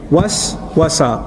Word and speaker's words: waswasa: Was-wasa, was-wasa, was. You see the two syllables together?